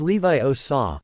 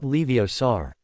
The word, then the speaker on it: Leviosa: And the pronunciation is vital. It's Levi Osaw, not Leiosar.